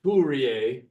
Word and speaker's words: Fourier: which relates essentially to foyer transforms and I just misspoke it's F Fier so that's how you say it Fier synthesis and Fier